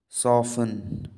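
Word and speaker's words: soften: सॉफन, तो आपका सॉफन में जो साइलेंट लेटर है वो है टी। आप सॉफन को प्रोनाउंस करते समय टी का प्रयोग नहीं करते हैं।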